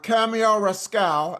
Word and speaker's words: Cameo Rascale: So before we discuss Cameo Rascale, am I saying it right?